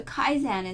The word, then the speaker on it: kaizen: So Kaizen is pronounced kaizen, a Japanese word constructed from two idioraphs.